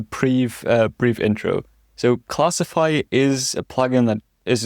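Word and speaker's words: Classifai: It's so obvious it's classify, right? But I just can't say it for some reason because of the way it's spelled. So it's C L A S S I F and then AI capitaliz.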